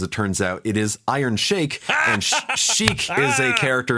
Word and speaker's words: Iron Chic: first of all he called me out for pronouncing iron Chic wrong because it turns out it is iron shake and she is a character in Super Smash